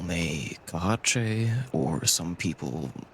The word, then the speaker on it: Kaahche: You can also call me Kahache, or some people call me as well, which is easier for most people to pronounce.